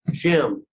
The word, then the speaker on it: Shem: whose bloodline are we in right now shem's shim just get a hold of that shim can